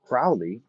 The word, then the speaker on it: Crowley: done magic in fracture crowley says probably his name rhymes with holy so cruelly alien crowley